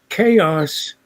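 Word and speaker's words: XaoS: refracto uh still is chaos with the x pronounced as in greek uh for chaos and this is it chaos and in this one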